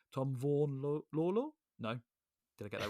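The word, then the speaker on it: Vaughan-Lawlor: It's going to be me not pronouncing things correctly. Tom Vaughan-Lawler? No. Did I get that right or wrong? No, that was right. Tom Vaughan-Lawler.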